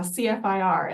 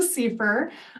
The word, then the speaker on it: CFIR: just reading about it I was saying uh cfir and then I I learned that that's not the way to to pronounce that abbreviation so it's the Seer um it was originally